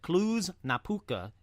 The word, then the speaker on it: Cluj-Napoca: Now, let's pause right there to say I think I nailed the pronunciations on this one. Not only did I say Hoia Baciu, but I also said Cluj-Napoca in Romania.